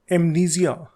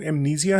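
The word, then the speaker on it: amnesia: The next disorder is एमनीजिया। इसकी British pronunciation तो एमनीजिया है, लेकिन अमेरिकन इसको एमनीजा कहते हैं।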